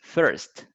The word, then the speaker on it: first: My first activity is to pick up the letters. Good, good, good, good. Only one thing, Manuel, the pronunciation is first.